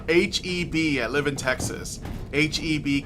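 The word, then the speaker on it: H-E-B: It's pronounced HEB, okay.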